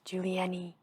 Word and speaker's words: Julienne: It's Juli, and then they pronounce the E, and then they pronounce the N, and then they pronounce the E as an E, so it's Julienne.